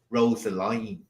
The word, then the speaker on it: Rosaline: is Rosaline from Shakespeare we say Rosa Rosalind now but they don't from the rhyme in Shakespeare's day it would have been pronounced Rosaline Rosaline like that so they know that